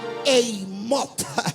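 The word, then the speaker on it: אימות: En otras palabras se pronunciaría Eimot.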